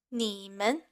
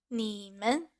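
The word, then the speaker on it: 你们: So, for example, the first word here, 你们, becomes ta ta. So this way you can tell the first character has the third tone and the second character has a neutral tone. So again, 你们 becomes ta ta.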